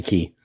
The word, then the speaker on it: Cay: ahead Steve go ahead sorrows yeah kay is pronounced key believe it or not so Castro it's called castaway key SOA key all right I'm pretty good at